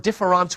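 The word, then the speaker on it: différance: gives us the word difference with an a you see difference with an e or difference with an a are pronounced exactly the same in French so the only way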